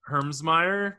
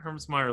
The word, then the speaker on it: Hermsmeyer: geographically about where Josh Herms me did I pronounce that correctly Herms Meer lives got it so